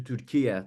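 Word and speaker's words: Türkiye: And, just like Turkey changed from Turkey to Turkiye to say how they say it now.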